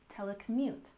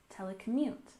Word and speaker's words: telecommute: and finally we have telecommute we have the main stress on the last syllable telecommute telecommute and this is when